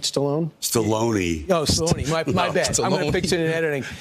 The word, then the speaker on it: Stallone: Guys, Jay Will, Sylvester Stallone, that's how you say it, right? Stallone?